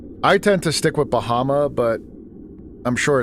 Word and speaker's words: Bahamut: Now, do you guys say Bahamut and pronounce the T or say Bahama? I tend to stick with Bahama, but I'm sure it's it's probably pronounced Bahamut with the T.